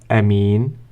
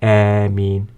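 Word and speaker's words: آمين: you say a me so there are two versions of pronouncing a mean you can even pronounce it Amin like the proper noun Amin and even like this Amin with six harats later we are going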